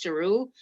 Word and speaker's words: Giroux: My last name is pronounced Giroux. I know a lot of people like run away from that, but it is pronounced Giroux.